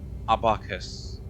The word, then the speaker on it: abacus: Abakus. Thank you. I kind of forgot how to pronounce it. Let's look at the vital sanctums. Apparently, you sleep in these. The A and Apple Abacus.